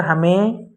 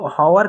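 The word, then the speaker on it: hour: मतलब घंटा होता है लेकिन यहां पर हा साइलेंट हो जाता है यहां पर यह लगा चाहिए लेकिन हा यहां पर जो है वह साइलेंट हो जाता है तो इसको पढ़ने पर हमें हवा की जगह हमको इसको पढ़ना है इसको हम पढ़ने हैं तो इसको हावर की जगह हम और पढ़ने ठीक और हो जाता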